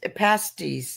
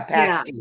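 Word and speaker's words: pasty: people pasties right past pasties yeah pasties they're spelled pasties but pronounce pasties in Michigan I think I think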